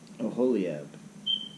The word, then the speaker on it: Oholiab: All right, Bezalel and Oholilab. Man, these names are so hard. Bezalel and Oholilab. Oholliab. How to pronounce Oholliab? How to pronounce Oholliab? Oholiab.